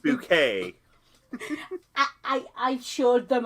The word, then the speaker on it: Bucket: this movie to hyacinth bucket well first off it's pronounced bouquet i i i assured